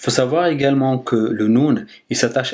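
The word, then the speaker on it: نون: Là, on va voir la lettre Nun. Donc du coup, au niveau de sa prononciation, vous ne devrez pas trouver trop de difficultés. Elle s'écrit comme, ça prononce comme un N en français.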